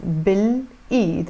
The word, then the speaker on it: بالإيد: B plus L pronounced as بالإيد, with the hand.